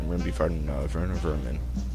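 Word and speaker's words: Werner Werman: And we're going to be fighting Werner Vermin. I know it's W's, but his name is German, so we pronounce the W's like they're V's.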